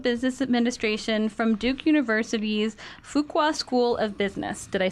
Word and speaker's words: Fuqua: his master's of business administration from Duke University's Fuqua School of Business did I say it right